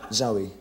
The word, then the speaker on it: Zowie: Oğlunun adı nasıl okunuyor? Zowie.